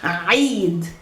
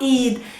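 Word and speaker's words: عيد: Eid. Eid. Happy Eid. Not Eid.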